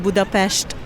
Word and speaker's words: Budapest: How do you say it? In Hungarian, we say it Budapest. There you go. It's very, very easy.